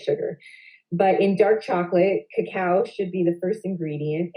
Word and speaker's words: cacao: list of ingredients and cacao which is what we call cocoa but it's correctly pronounced cacao which is the chocolate